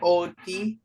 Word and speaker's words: Odie: Hello, Odie. How do you spell that? Oh. Mm-hmm. I got that. You could pronounce it odd if you really wanted to. Or, yeah, no odd. But it's Odie.